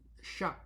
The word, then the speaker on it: chat: So what's the main focus between sha and sha and chat and chat as it is written ch h a t when it is pronounced as sha you already hear it the ah is dominating.